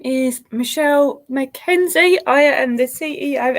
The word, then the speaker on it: Michelle: it was a good try someone pronounced my name wrong once well twice i was a vehicle mitchell or michael and i'm like no no it's michelle pretend this is a high uh an s